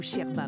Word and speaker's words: yerba: Le yerba maté ou sherba maté, comme le prononcent les Argentins, est une infusion qui fait partie de leur quotidien.